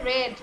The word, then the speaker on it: read: আচ্ছা যখন read আমরা past participle বলবো তখন কিন্তু read উচ্চারণ হবে read, আমরা কিন্তু read বলবো না।